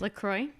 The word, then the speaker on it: LaCroix: But how do you pronounce the sparkling water that comes in cans with multi-variety of flavors? LaCroix.